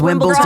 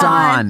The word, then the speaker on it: Wimbledon: It's not Wimbledon. Wimbledon. Okay, I'll never Wimbledon forget it. Will forever. It will be Like called. Ron. Like, yeah. No, but with a D. It's like Dawn. Yeah, like it rhymes with Ron.